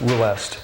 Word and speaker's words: Rust: Well, it's pronounced Ruest. Ruest, okay.